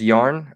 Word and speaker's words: Jan: sweet pea said uh Jan is pronounced yarn oh yeah if you're